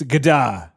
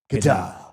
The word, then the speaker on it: Godard: It's Godard. That's how you say his name. Godard.